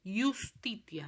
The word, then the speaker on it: justitia: El sonido de la J no existía en latín. Siempre suenan I. Fíjense la palabra que está escrita ahí. Justitia decimos.